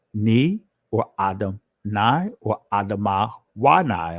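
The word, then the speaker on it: אדמה: This is where you get the word Adam Ni, or Adam Nai, or Adamah Wanai. I'm saying it in ancient Hebrew, that last pronunciation.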